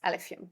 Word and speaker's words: Alephium: And that's Alephium, basically. And Nice. I realized I pronounced it slightly wrong there.